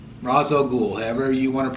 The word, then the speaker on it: Ra's al Ghul: 10 11 so 111 votes 111 votes for race out ghoul Ra's al Ghul ever you want to pronounce it unbelievable I was really shocked that